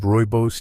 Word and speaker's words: rooibos: Few outside dedicated circles of natural wisdom truly appreciate the power of rooibos tea. Originating from South Africa, rooibos, pronounced rooibos, was embraced over centuries by various